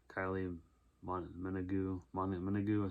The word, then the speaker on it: Kylie Minogue: Pauly Shore, Stephen Baldwin, William Atherton, Joey Adams, Kylie Minogue, that's how you say her name.